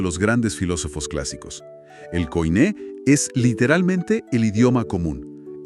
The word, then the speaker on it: koiné: Y esa imagen del mercado es vital para entender el concepto del griego koiné. Para quienes no tienen experiencia previa con estos términos, la pronunciación es súper sencilla, se dice koiné.